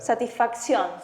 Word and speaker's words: Satisfacción: Поэтому можем Но здесь по-другому чуть-чуть читается. Satisfacción. Это satisfaction, английский satisfaction, испанский. В замысле две «ц» — это «ксион». Ну, технически вот прям почти, но В чуть-чуть этом случае произношение имеет отличается.